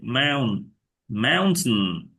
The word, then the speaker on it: mountain: মাউন্টেন একদম নাকে রেখে দাও, এরকম নেটিভরা এরকম প্রায় করে, মাউন্টেন, মাউন্টেন। mountain. হ্যাঁ, ছন Mountain. বলে না, মাউন্টেন, মানে নাকের ভিতরে থেকে দেয়, Mountain. মানে মুখে রিলিজ করে না।